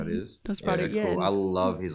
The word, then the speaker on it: Nosferatu: Did I pronounce that correctly? Is yeah, that how it is? Nosferatu, yeah.